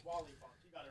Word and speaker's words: Wally Funk: Pronounced Who's that? Wooly Funk? Wally Funk, you got it right.